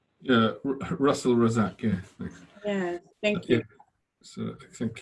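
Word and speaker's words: Razzaque: like people to to pronounce mine correctly right rezig yeah russell rozak yeah thank you yeah thank you sir thank you well thank you for inviting me to say my name is russell razak i'm a psychiatrist based in in london england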